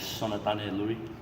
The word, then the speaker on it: Sonatane Lui: Pronounce it one more time for everybody out there. Yeah, my full name is Sonatane Lui.